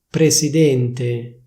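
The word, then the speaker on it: presidente: presidénte presidénte Or rather, more likely: /prezidénte/, with a voiced Z.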